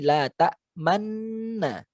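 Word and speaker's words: تَأْمَنَّا: Nah, kaidahnya karena dia aslinya adalah la ta manuna, disembunyikan, diisyaratkan menjadi la ta manna. Tetap gunnahnya 3 harakat.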